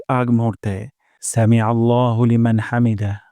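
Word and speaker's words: حَمْد: সাউন্ডটা নিচের দিকে যাবে হামদ হামদ আর হা উচ্চারণ করবো গলার মাঝখান থেকে হামদ রব্বানা ওয়ালাকাল হামদ রব্বানা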